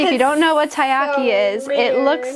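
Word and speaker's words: taiyaki: I believe this is pronounced tayyaki.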